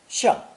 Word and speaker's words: 像: Also pronounced fourth tone, 像, 像.